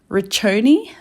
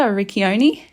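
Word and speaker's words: Riccione: Um but yeah, now we're back in uh Richi I think is how you say it or in Australia Rickoni.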